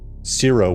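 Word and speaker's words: Ciro: And, uh, zero, which is C I R O, just to kind of get that out there. Uh, I know I don't I pronounce it like zero probably.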